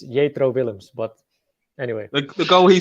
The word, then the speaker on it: Jetro Willems: If I have to pronounce his name in Dutch, it's Jetro Willems.